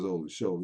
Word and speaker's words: Olusola: He says OLUSOLA. His name is not spelled with no H in it. It's OLUSOLA.